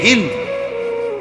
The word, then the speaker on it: হিন্দ: করার পরে একটা নারী, যে নারীর নাম হলো হিন্দ, আমাদের দেশে উচ্চারণে বলে হিন্দা, যাই হোক মূলত হলো হিন্দ, আকারটা নাই আর কি, কিন্তু এটা উচ্চারণের একটা ভুল, হিন্দা বলে ফেলে।